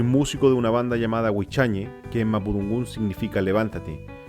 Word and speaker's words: Huichañe: Soy músico de una banda llamada Huichañe, que en mapudungún significa levántate. Los peñi y lamien de otros sectores del Gualmapu también lo pronuncian como Huichañe.